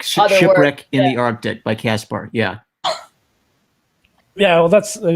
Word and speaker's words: Caspar: Okay, Caspar, like Casper the Friendly Ghost.